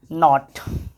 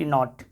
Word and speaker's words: knot: तो के साइलेंट हम लोग देख रहे हैं, KNOT नॉट, KNOT नॉट।